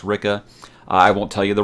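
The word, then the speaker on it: Ricke: I was like wow I've been seven saying Rick the whole book but it's Ricka Rik que es pronounced Ricca I won't tell you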